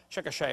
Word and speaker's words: Chickasha: 2005 textbook, and I pronounced it wrong as Chickasha, not Chickasha, Chickasha, Oklahoma.